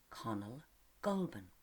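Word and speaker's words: Conall Gulban: he got his name connell goldman it rhymes with ben baldwin doesn't it being called connell meant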